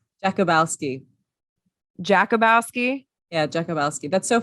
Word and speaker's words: Jakubowski: So just for the sake of all of us, how do you pronounce your last name? Jakubowski.